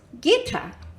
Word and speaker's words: Gita: And my name, Gita, is pronounced Gita.